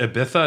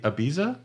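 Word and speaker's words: Ibiza: Wesker essentially yeah uh you put down it's pronounced atha not AB abiza yes I absolutely hate when people tell me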